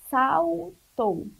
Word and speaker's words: saltou: Observem que em saltou tem sal, tá bom? E tem o tou. O tou ele é com U, mas já o sal ele tem o som de U, mas se escreve com L, tá bom?